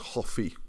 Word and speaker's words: hoffi: okay, in Cymraeg, because the Welsh word for to like is hoffi. So, do you like coffee is funny, right? I do eat hoffi coffee, it rhymes.